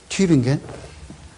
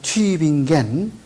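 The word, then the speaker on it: Tübingen: 튜빙겐. 이 독일 사람들은요, 이렇게 점을 찍어, 두 점을 찍어요. 두 점을 찍으면은 우 그러지 않고 위 이렇게 발음을 한다고. 그래서 튜빙겐 이렇게 해서 이게 영어에는 이런 게 없잖아.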